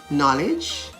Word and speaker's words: knowledge: such as nak k-n-a-c-k knee k-n-e-e knife k-n-i-f-e knowledge k-n-o-w k-n-o-w-l-e-d-g-e and nob k-n-o-b have you noticed